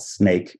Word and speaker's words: Snaike: One of them is called Snake. It's spelled Snaike.